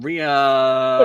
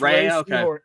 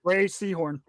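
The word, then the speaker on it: Rhea Seehorn: Um, Ria, it's actually pronounced Ray. It's actually pronounced Ray Seahhorn. Ray Seahhorn.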